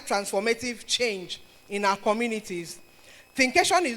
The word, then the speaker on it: Thinkation: You know, people have pronounced Think in different ways. I've heard Think Nation. I think I've heard thinkation I've heard all sorts of thinkaton but is a creative measure of thinking and education thinkation and um this theme